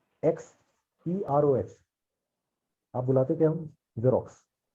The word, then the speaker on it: Xerox: जेरोक्स। एक्सरॉक्स क्यों नहीं बुलाते? सोचने वाली साइलेंट बात होता है।